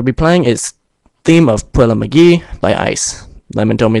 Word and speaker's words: Puella Magi: The name of the song we'll be playing is "Theme of Puella Magi" by Ice.